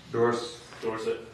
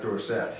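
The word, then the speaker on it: Dorsett: have 2 T's at the end of my name. Oh, okay, and 2 T's. But it's pronounced Dorset. Not Dorset. You can do Dorset too. Then you have to throw an E on it.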